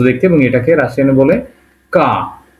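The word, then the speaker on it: К: তারপর একটা কি আছে কে, কে কে এর মতো দেখতে, এবং এটাকে রাশিয়ানে বলে কা। এটাকে রাশিয়ানে বলবে কি কা, এবং উচ্চারণটা হবে কয়ের মতো।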